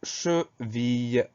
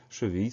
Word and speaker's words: cheville: Le mot suivant est nettement plus simple, c'est le mot cheville. Première syllabe che, CHE sans problème. Deuxième syllabe ville. Alors attention, on entend bien le son I.